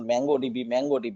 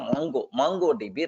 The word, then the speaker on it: MongoDB: Okay, it is not mango. Okay, because mango is more popular than Mongo. So most of the people, even myself also, sometimes maybe earlier I pronounced mango DB. No, it is the Mongo DB, right?